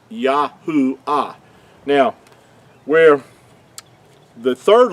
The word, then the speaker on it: Yahuah: that you understand that the Creator's name could not be yehovah it's yahua now where the third